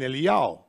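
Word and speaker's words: אליהו: we find Moses and Eliyahu, or Elijah. And Elijah, or Eliyahu, this is how his name is pronounced according to Judaism.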